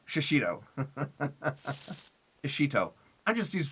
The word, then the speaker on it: shishito: There's no N. So it's it's shishinto or shashin shishito. Shashito shishito.